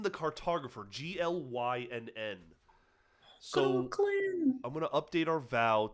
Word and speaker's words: Glynn: He has to say Glenn, like that's how you say his name.